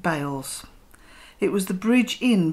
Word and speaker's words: Beale's: is on beale's corner local people pronounce it bales it was the bridge